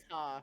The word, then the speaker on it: Ptah: Ptah. I think it's pronounced Ta. Yeah, Ra, Ta, Horus, Anubis, Isis, Set, Amun, Osiris, and Thoth, or Thought, however you say it.